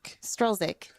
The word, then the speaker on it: Strzelczyk: So you don't pronounce the first Z? No. So the first Z is silent. And so is the C, apparently. Strzelczyk. Yeah. So it's like just take out the first Z and it sounds okay. I got it.